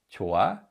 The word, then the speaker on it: 좋아: So in this word, 좋아, 좋아, 히읗 is a silent 받침 because it's not read in any way.